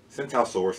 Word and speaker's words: Tsintaosaurus: different crest so on the name sent out Source the t is silent the idea is that